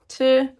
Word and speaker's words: 들으면: And it's pronounced 들으면, like this. Again, this lir moves up here, and this nien moves up here when you're speaking.